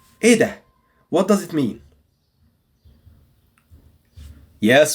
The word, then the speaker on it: إيه ده: إيه ده. It's very fast. And there is no H, pronouncing H or emphasizing the H.